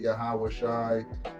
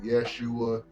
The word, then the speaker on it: Yeshua: I made a mistake that pronunciation was yah Usha okay some people pronounce it yahawashi some people pronounce it Yeshua okay so you know